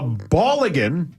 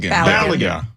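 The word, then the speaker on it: Balogun: Uh, Bulligan, is that how you say it? Ballan. Ballan. Ball. Floren Ballagan will be available to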